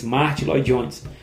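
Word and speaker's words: Martyn Lloyd-Jones: que também via Atos dois capítulos, né, que via Martin Lones, Martin Ly Jones, a pronúncia correta Mart Ly Jones, né, também tinha uma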